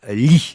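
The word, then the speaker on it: Leigh: il est signé Julia Lee j'imagine qu'on prononce lit ça s'écrit l e i G H c'est publié chez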